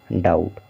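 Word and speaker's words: doubt: देंगे हो गया डाउ और बी साइलेंट है यानी कि बी को नहीं पढ़ना है इसके बाद टी बच रहा है टी से हो गया टा हो गया डाउट ठीक इसी तरह से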